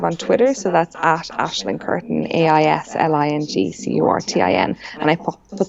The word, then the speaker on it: Aisling: I used to just say Aileen. That's not a name I've heard of before, and that's like, no, it doesn't sound right. Yeah, I called Aisling, Ailing, Aileen.